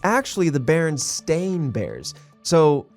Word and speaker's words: Berenstain: steam part i always thought of it as berenstein that's how i always pronounced it berenstein yeah and so always pronounce